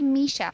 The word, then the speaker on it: Michele: It's Michele. That's the right pronunciation. It's actually Misha.